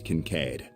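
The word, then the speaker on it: Kincaid: case oh the C Renee Kincade the name's cancade I'm with the C's analytical division on its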